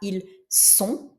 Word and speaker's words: ils sont: prononce, on ne prononce pas ce S, on prononce celui-là, ils sont, et donc c'est bien le S qu'on prononce.